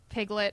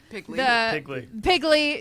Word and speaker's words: Pigley: We've got a bear claw, we've got I'm I'm going to say the name wrong, not Piglet does not but Pigley yes Pigley I mean knowing where certain